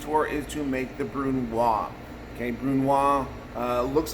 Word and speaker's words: brunoise: is to make the brunoise okay brunoise uh looks like brunoise but it's pronounced brunoise because it's french and it is a 1 8 by 1 8 by 1 8.